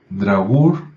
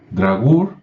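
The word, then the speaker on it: draugr: al morir en un drag sí se escribe de r a u g r drag que suena muy parecido a muy parecido a dragón o a Drácula o a dracul y tal vez solo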